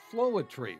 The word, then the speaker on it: Floetry: all of it diverse it's called floetry which rhymes with poetry all focused on the